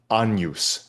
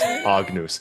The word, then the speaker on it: Agnus: And afterwards the priest came up to me and says, you know, it's pronounced anus, not agnus.